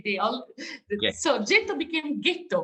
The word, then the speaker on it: ghetto: all so gto became ghetto pronounced the German way actually so ghetto came to identify a sense of area in which Jews lived.